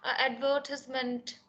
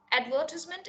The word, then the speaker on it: advertisement: Now there are people always like, oh, it is advertisement, oh, it is not advertisement. Advertisement is the British pronunciation, advertisement is the American pronunciation.